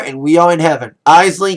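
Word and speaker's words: Eisele: It's spelled weird. Isley, that's E-I-S-E-L-E, but it's pronounced Isley.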